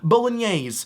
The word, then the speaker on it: bolognese: You might see this and think, that looks like bologna. Well, correct, it does look a little bit like bologna, and it's pronounced bolognese.